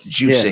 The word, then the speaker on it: Jussie: You said it right, Juicy.